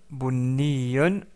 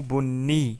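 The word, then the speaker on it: بني: Enfin, la couleur marron qui se prononce tout simplement en arabe. Bon, bonnon ou bonni si on s'arrête sur le mot.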